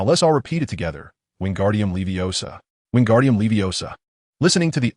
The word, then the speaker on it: wingardium leviosa: The incantation for the levitation charm is wingardium leviosa. He articulated the spell with careful inflection. Remember it is wingardium leviosa. Pronouncing the incantation accurately is crucial.